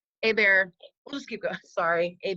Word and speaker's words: Hebert: I said it wrong hey bear hey bear let's keep going sorry hey bear explain that it's French French you know pronounce the H and you don't pronounce the final consonant oh sure so how